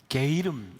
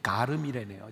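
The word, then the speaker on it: sluagh-ghairm: 그게 무슨 뜻이냐면 이게 그 켈트족 언어이기 때문에 슬로건이라고 하는 말이 슬루아그 플러스 게이름, 이게 저는 그렇게 읽었더니 가름이래네요. 제가 발음이 틀렸다고 교정하는 노트가 올라요. 슬루아그 가름이라고 해요.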